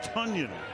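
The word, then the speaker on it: Tonyan: And that is Tanyan. Got it down to the 30. 30-yard line. Breakout season for him, whose name is spelled T-O-N, but it's pronounced Tunyon.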